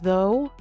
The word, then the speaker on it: though: Silent gh appears in words like though, light, night, and bought. In modern English, gh makes no sound at all.